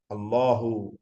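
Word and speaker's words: الله: നമുക്കൊക്കെ എപ്പോഴും ഓർമ്മ വേണ്ടതാണ് രണ്ട് ലാമും ആ രണ്ട് ലാമിന് ശേഷം ഒരു അലിഫ് ഉണ്ട് ആ അലിഫ് വന്ന ശേഷമാണ് ഹാ വരേണ്ടത് അള്ളാഹു അള്ളാഹു ശരിക്കും അള്ളാഹു എന്നാണ്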